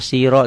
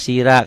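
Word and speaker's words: صِرَاط: Kenapa siro enggak sira? Karena ini huruf-huruf yang berbunyi o.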